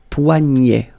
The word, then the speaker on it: poignet: Le poignet. Le poignet. So this combination of ET at the end will basically open the sound. So you get E, E, poignet. Okay, remember, GN, gne, poignet, le poignet.